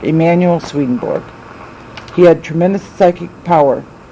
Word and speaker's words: Swedenborg: relaxation visualization and concentration swedenborg I've heard it pronounced Berg it's not it's board it's swedenborg Emmanuel swedenborg he had tremendous psychic power and he believed